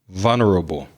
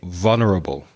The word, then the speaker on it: vulnerable: a couple of times vulnerable the pronounce iation is quite difficult listen vulnerable v u l n e r a b e say it with me vulnerable it means you're easily